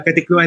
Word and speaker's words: Caticlan: So we just got stuck in Caticlan. Is that right? How I pronounce it? Yeah, Katikluan near We Boracay.